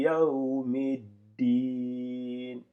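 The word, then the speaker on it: يوم الدين: Maliki Yawmiddin. Ici, vous avez bien entendu, je fais toute une pause, une petite pause avant de prononcer le D.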